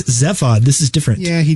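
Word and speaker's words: Zaphod: Well, it's not Zephod, it's Zephod.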